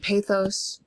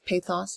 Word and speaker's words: pathos: famous logos, ethos, and pathos. I choose the American pronunciation of that because I don't speak Greek. I think it would be logos, pathos, ethos. But tomato, tomato, right? Logos, pathos, and ethos for me.